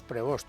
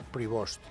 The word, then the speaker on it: Prevost: Nosotros decíamos Prevost cuando hacíamos quinielas, pero en la pronunciación correcta se parece más a Prevost.